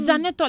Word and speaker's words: Zanetor: It's Zanetor, like it's a very powerful name.